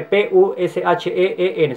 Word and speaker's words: Pusheen: Se escribe P-U-S-H-E-E-N, se pronuncia Pusheen, se escribe Pusheen.